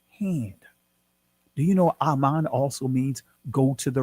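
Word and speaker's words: אמן: Aman. That's the ancient Hebrew pronunciation of the word Aman. Look it up. In your strong concordance, the primitive root word will say Aman. It'll be spelled Ahman.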